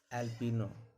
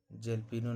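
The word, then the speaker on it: jalapeño: एल्पिनो, जेल्पिनो नहीं पढ़ेंगे, एल्पिनो।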